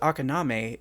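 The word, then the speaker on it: あかなめ: It's Japanese, so it's spelled like it sounds. Say it's Akaname.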